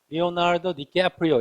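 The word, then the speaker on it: Leonardo DiCaprio: 리오나르도 디캐프리오 이렇게 발음해요. 미국식 발음이에요.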